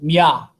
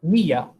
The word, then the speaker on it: Mía: If you just wrote that without an accent mark, the emphasis would be on the A. It would be pronounced Mia.